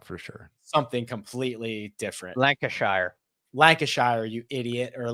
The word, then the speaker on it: Lancashire: the West lanir someone's GNA tell me that's pronounced like oh for sure something completely different Lancashire Lancashire you idiot or like before we get